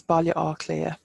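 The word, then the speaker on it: Baile Átha Cliath: told growing up so it's also known as Bali or clear which is the hurdled fort so Bali is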